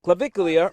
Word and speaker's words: Clavicular: So, when it comes to online influencer Clavicula, wait, how do you say that again? Clavicular or CL is what he's also called, right?